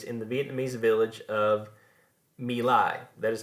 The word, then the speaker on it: My Lai: had taken place in the Vietnamese village of My Lai, that is how that's pronounced, in which American soldiers had murdered somewhere between 300 and 500 Vietnamese women and children.